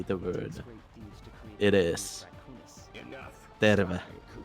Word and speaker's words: Terve: Alright, so for anyone wondering how you actually say the word, it is Terve. Terve.